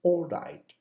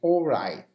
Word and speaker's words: all right: means you don't finish, you don't pronounce the T, the final T, but the sound it comes from your throat. So you say, all right, all right.